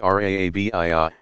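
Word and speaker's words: Rabia: 801, pronounced Rabiyah, gave expression to a fierce longing for God in bold, shocking love poetry.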